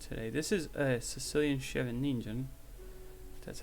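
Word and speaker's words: Scheveningen: not too relevant today this is a sicilian chevy ninja that's how you say it i'm not too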